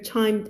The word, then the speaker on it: chimed: Pierre chimed in คำนี้ออกเสียงว่า chimed ไม่ชิมนะคะมันชิมไหมล่ะไม่ชิมนะ คำว่า chimed พอใส่ ed เข้าไปโอเคมันจะมีปกติรูปของมันก็คือแค่ตัว